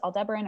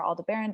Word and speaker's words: Aldebaran: the eye of Taurus Aldebaran or Alda Barron depending on how you want to pronounce it and then just keep